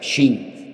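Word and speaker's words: שׁ: tiene doble pronunciación, porque si arriba te encuentras un punto a la derecha es shin, y si te encuentras arriba un punto a la izquierda es sin, pues ahí encontramos a Sara,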